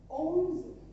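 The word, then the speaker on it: onze: Okay, so 11 owns.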